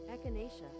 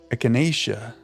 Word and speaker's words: Echinacea: Echinacea. Echinacea. Okay, yeah, you did say long A.